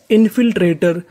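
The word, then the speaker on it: infiltrator: है टी ओ आर ओ आर को हम लोग इंग्लिश में पढ़ते हैं अर यानी आपको इंग्लिश में कहीं पर ओ आर लिखा मिले तो आपको पढ़ना है अर तो मीनिंग क्या बनी? इनफिल्ट्रेटर।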